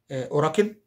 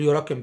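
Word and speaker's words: 裏拳: أوراكن اللي هو أوراكن اللي هي ظهر أوراكن، مش هقول يوراكن بقى، إن حرف اليو في اليابانية ينطق أو، هو بينطق أو، هم خلوه، احنا مش داخلين في حاجة يعني.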